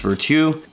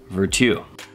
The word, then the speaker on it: Virtu: I'm pretty sure it's pronounced Virtu because it's got a French spelling. It's like virtue, but no E.